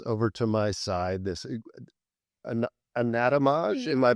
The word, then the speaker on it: Anatomage: So now we're going to transition to this device that's over to my side, this Anatomage. Am I pronouncing it? Anatomage.